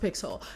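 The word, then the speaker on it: Pixal: pixel pix it's it's spelled pixel but it's pronounced pixel um I did not know who she was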